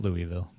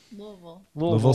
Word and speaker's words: Louisville: not from there because I put too many syllables in it. Yeah. Really, the fewer syllables, it's about half a syllable, really.